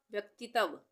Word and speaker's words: व्यक्तित्व: तरह से पढ़ेंगे हम, व्यक्तित्व, व्यक्तित्व, तो हम व्यक्तित्व तो नहीं बोलते हैं ना, हम बोलते हैं व्यक्तित्व, तो आधे तक का यहाँ पे उच्चारण हो रहा है तो आधा त बनेगा, ठीक है।